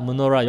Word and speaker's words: 메노라: 메노라, 무노라 영어로 발음은 무노라입니다. 근데 사실상 철자는 MENORAH라 한국말로 그대로 그 메노라인데 무노라입니다.